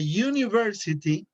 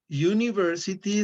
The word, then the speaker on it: university: for example here a university university starts with a you you is you a consonant or a bowel no it's not a verb it's a